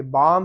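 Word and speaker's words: balm: तो आप देखेंगे यहाँ पे ये लफ्ज है, ये बाम है, बाम, इसमें एल साइलेंट है।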